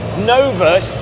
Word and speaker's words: Novus: fantastic the no I'm keep saying it wrong pronounce it for me properly no novas I'm so dumb I was getting told off